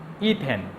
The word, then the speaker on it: ইথিন: নামকরণ করতে পারি যেমন ইথেন অ্যালকিনের বেলায় তার উচ্চারণ হবে ইথিন যেমন মিথ মিথেন অথবা প্রোফেন অ্যালকেনের বেলায় তার উচ্চারণ হবে প্রোফিন একইভাবে আমরা অ্যালকিনের সর্বনিম্ন যৌগ